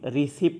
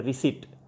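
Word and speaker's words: receipt: যেটা কিনলাম রশিদ দেন তাইলে সেটা আমরা বলি রিসিভ দেন না এটার সঠিক উচ্চারণ রিসিভ নয় এর উচ্চারণ হলো রিসিভ রিসিভ আর ই সি আইপি টি আর রিসিভার হলো গ্রহণকারী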